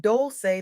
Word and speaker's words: Dolce: I'm Dolce, pronounced doulce like sweet softness whispered in French.